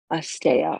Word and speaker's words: asteya: philosophy, these principles that we live by called asteya, or it's spelled A-S-T-E-Y-A, and it means non-stealing.